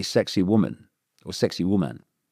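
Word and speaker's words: Sacsayhuamán: Do you know there's a place in um Peru just above Kusco and uh it's not spelled like this but it's pronounced apparently sexy woman or sexy woman.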